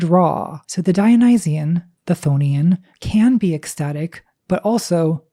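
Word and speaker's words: chthonian: That's c h o n i a n. I pronounce it thonian.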